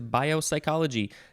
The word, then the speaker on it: biopsychology: to bio uh biopsychology the first six letters are the same as biopsy so when i first read it i wanted to pronounce it with biopsy at the beginning but that is not at all what that word is this word is biopsychology noun from 1909 and